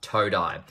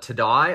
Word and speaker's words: Toe Dye: I was going to call it Today or Today or something like that. And he just wrote the words toe and then dye in the message when I asked him.